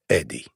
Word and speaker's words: Adi: In English, the name is pronounced Eddie.